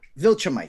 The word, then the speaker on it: Viltrumite: Is that, if I'm correct, that's pronounced Zentonite? It's a Viltrumite. Viltrumite, thank you.